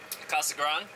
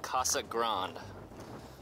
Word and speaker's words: Casa Grande: the abandoned domes of Casa Grande some of you guys might be thinking it's pronounced grande but well just like San Pedro it's it's a little different from the proper Spanish pronunciation there you go these